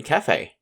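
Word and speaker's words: café: for example like in cafe the e in cafe doesn't sound like a normal e that's an example of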